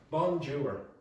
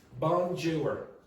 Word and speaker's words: bonjour: You're supposed to pronounce in the nose and bonjour.